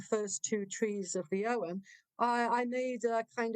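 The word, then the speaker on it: Ogham: om o g a a m but it's pronounced Owen beautiful uh there any associations with the OM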